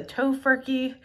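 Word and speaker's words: Tofurky: can choose the Stouffer's party size or the tofurkey that's how you say it holiday roast which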